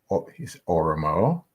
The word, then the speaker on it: Oromo: And speaking about the different types of the societies that are there in Oromo, I'm pronouncing it right?